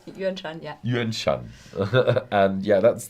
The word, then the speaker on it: Yuanshan: As I said, Kavalan comes from Taiwan, the Yuanshan region. Did I pronounce it right? Yuanshan, yeah.